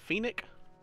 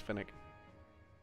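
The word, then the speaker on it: Phenac: this is Phoenix is it Phoenix I think it might be Finnick City I've been saying it wrong it's Finnick oh and to the mayor's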